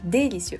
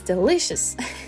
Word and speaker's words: delicious: finally learned about delicious I used to say Del Del yeah how you say that delicious yeah delicious because in French I said delici I don't know I just copi past that pronunciation but it's delicious so yeah well after